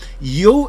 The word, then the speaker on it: Yu: I believe that's how you pronounce his last name, Yu, Y-O-U, so that's how I'm going to pronounce it from here on.